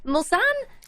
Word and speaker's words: Mulsanne: But on top of that, we've got Tora's 24 Hours of, and I'm going to say it wrong again, Mulsanne? Did we settle on a pronunciation? You got it. Mulsanne.